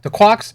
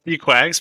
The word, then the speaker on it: Dquags: for um and we're joined today uh by the quags is it twags the quarks i'm terribly pronouncing your name i'm butchering it it's your quags but yeah okay oh yeah yeah i